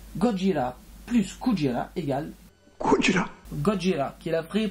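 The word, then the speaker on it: ゴジラ: Godra qui est la vraie prononciation en fait.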